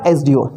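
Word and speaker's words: SDO: अब इस एसडीओ को क्या प्रोनाउंस करते हैं बेटा, इस एसडीओ को बोला जाता है सबसे पहले एस। ठीक है, तो स्वर आता है, ये एडी का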